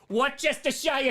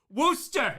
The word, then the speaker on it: Worcestershire: Worcestershire. Worcestershire. That's That's how you do it. And in New Zealand, that's how you say it. You emphasis on the shire.